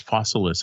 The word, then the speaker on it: Fossilis: Creature Comforts and Fossilis, I think that's how it's pronounced, like Fossils with IS, Fossilis, I think.